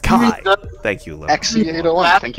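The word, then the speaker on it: χ: It's a plot point in Birth by Sleep, where it's basically the little Greek X is Keyblade, or it's actually pronounced Kai.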